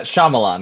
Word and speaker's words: Shyamalan: house wrote his senior thesis on Shy, how do I pronounce this? Shyamalan. Uh, Shyamalan.